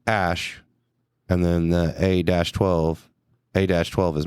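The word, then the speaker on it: Æ: And he said, Musk told Joe Rogan that it's X, as in the letter X, and then the AE is pronounced Ash, and then the A-12 is my contribution.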